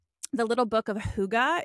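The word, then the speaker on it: hygge: book right now called the little book of Huga it's spelled h y g g it looks like Hai higgy um it's spelled or pronounced Huga and it's a Danish concept of like intentional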